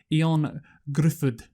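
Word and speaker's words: Ioan Gruffudd: You won't know how to pronounce this name, and you probably won't know who he is. It's like Ion Gruffudd.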